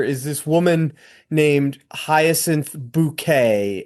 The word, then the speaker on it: Bucket: and she play the the main character is this woman named Hyasin Bouquet. It's spelled bucket but pronounced bouquet.